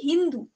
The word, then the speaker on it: হিন্দু: এবার এই এস কে এরা কি উচ্চারণ করতো? এইচ। ঠিক আছে, এস কে এইচ উচ্চারণ করতো এবং সেখান থেকে আমরা দেখবো কি এখানকার লোকদেরকে বলতো কি হিন্দু। ঠিক আছে, হিন্দু বলতো।